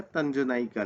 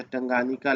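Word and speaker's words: Tanganyika: इसका आंसर हो जाएगा तंजनाइका लेक। टंगनाइका लेक जो है या टंगानिका लेक जिसे कहा जाता है, तंजनाइका या टंगानिका कुछ भी कह सकते हैं आप प्रोनाउंसिएशन में।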